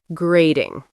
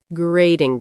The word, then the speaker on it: grating: Grating. Grating the cheese. The T in the middle of grating sounds like a soft D.